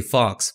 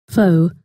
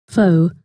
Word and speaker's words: faux: for bold faux italic I used to say Fox but my good friend George in corrected me Thank You Georgie all right so let's choose faux italic and just to make things clear again here's the pronunciation faux faux now as you can see it's italic